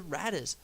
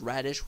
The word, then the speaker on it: Raddus: But he almost never left the Raddus, which I've heard a lot of people pronounce as Radish, which is extremely funny.